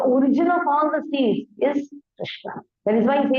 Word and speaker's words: Krishna: Krishna, the word Krishna is made of two syllables, Krish and Na. Krish, like this, Krish, Na. Both are half only.